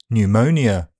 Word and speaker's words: pneumonia: The letter P is silent in several common words. Cupboard, receipt, raspberry, psychiatric, psychology, coup, pneumonia to name a few.